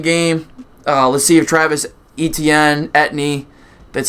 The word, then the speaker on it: Etienne: Let's see if Travis Etienne, that's how you pronounce it, actually can stay healthy because he was a high draft pick for them last year.